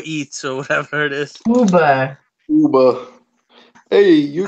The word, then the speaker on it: Uber: Uber. Hey, you How do you say it? Uber. That's how you say it. It's Uber.